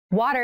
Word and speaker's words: water: actually reduced it sounds more like a d in fast speech water is important to our